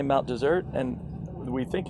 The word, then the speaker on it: Mount Desert: We talked about it because there's only one S. Some people say Mount Desert, but locals say Mount Desert, and we think it's a holdover from the naming of the island.